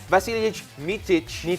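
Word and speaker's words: Vasilije Micić: And then, of course, siguro for those really into basketball, EuroLeague MVP, si Vasilij Micic. I think that's yung right, pronunciation. that's right.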